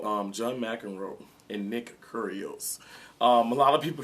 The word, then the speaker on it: Kyrgios: John Mcenroe and Nick curios um a lot of people can't pronounce his name but um the g is silent okay um almost like curious but curios anyway John Mcenroe let's